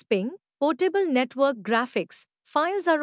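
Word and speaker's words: PNG: the largest file size पीएनजी pronounced S पिंग portable network graphics files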